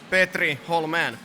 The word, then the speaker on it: Hollmén: A nice pronunciation, by the way. Petri Hollmén.